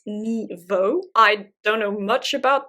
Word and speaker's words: Nghi Vo: There is The Empress of Salt and Fortune, written by, I believe it's pronounced Ni Vo.